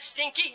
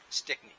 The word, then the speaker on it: Stickney: Is that stinky? Is that how you say it, stinky? Stickney. Yeah. S-T-I-C-K, anyone.